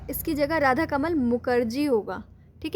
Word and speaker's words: Mukerjee: इसकी जगह राधा कमल मुखर्जी होगा, ठीक है। बंगाली में मुखर्जी पढ़ते हैं, ठीक है।